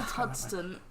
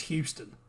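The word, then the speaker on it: Huston: Not Hudson. That definitely says Houston. Oh, I said it wrong last time, you didn't correct me. No, I think you said Houston last time.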